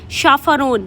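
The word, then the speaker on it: chaperone: अकंपनी guide attend guard और इसका एक बहुत अच्छा सिनोनियम है शाफरोन। शाफरोन इसकी प्रोनंसिएशन मैंने यहां मेंशन की है ताकि आप गलत प्रोनाउंस ना करें।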